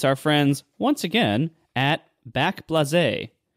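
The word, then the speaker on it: Backblaze: friends once again at back blaz or maybe you pronounce it it's probably pronounced back Blaze yeah I'm pretty sure it's back Blaze all right back Blaze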